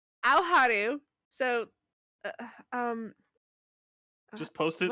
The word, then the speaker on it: Aoharu: It's Aoharu.